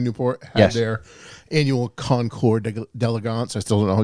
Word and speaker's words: Concours: their annual Concours d'Elegance. I still don't know exactly how to say Concours d'Elegance. that. Yeah, but I don't say the S. No one ever says the S. Elegant. It's Concours. Concours.